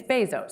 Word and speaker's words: Bezos: I I I I I spent months saying Bezos and people still get it wrong it's Bezos yeah Bezos and it's